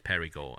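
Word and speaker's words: Périgord: the door doing but in french it's perigo and perigord's known for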